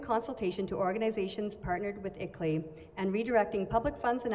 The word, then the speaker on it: ICLEI: That acronym is pronounced ICLEI.